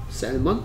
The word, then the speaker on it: salmon: Salmon? 어, 어떻게 씁니까? 아, salmon. 뭐 어떻게 씁니까? S-A-L M-O-N 오 여기에 어떤 글자가 소리가 안 나요? L 소리 안 나네 그렇죠 그래서 얘 발음이 뭐다? Salmon Salmon Salmon Salmon Salmon 오케이 Salmon 무슨 씨예요?